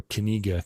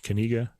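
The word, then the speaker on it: Knigge: piece that's k-n-i-g-g-e or kaniga could be too I don't really know knish kaniga and he's probably Dutch I think they pronounced the K by the way I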